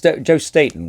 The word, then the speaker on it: Staton: who did this interior Joe state is a it's Joe Staton right is that how that's how you say it right he was the